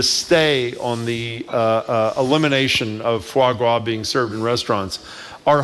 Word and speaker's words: foie gras: passing legislation to ban foie gras. I think we were all teaching each other. Well, you were teaching us how to pronounce it. And apparently... with an R, not a W.